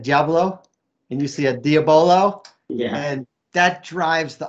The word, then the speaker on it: diabolo: me and says that it's diabolo steve it's not diablo no matter where they